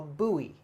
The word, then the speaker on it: buoy: or the left side of it called a buoy buoy that's a little bit tricky one okay